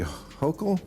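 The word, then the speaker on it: Hochul: Uh, what do you New New Yorkers think of how Mayor Eric Adams and Governor Kathy Hokll Yes. Yes. You pronounced it right.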